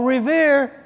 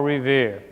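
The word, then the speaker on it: Revere: lost story of Paul Riv his name just happened to rhyme with the word here so I have a little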